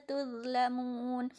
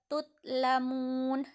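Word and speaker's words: تُظْلَمُونَ: Khairi yuwaffa ilaikum wa antum la tuzlamun. Tuzlamun, zo di sini tidak boleh dibaca tutlamun.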